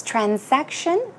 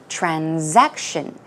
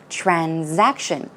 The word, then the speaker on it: transaction: S pronunciation so it's trans section or I would say even more commonly it is pronounced with a Z sound so transaction transaction a transaction simply would